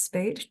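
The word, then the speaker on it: Speight: Nigel Spate, I have trouble pronouncing his name, but it's Spate.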